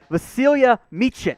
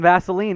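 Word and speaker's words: Vasilije: and you've got his pronunciation i got the pronunciation i got it i got here vasilia yes and so there were reports i jokingly called him vaseline earlier when i first saw his name and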